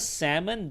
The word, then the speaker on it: salmon: the case of salmon, that is not really elision. That's actually a silent letter, all right? Now, the difference between sandwich and salmon is that in the case of sandwich, you're supposed to pronounce the D, except, because of how people pronounce it, they just don't go with it, all right? Whereas in the case of salmon, the L was never intended to be pronounced.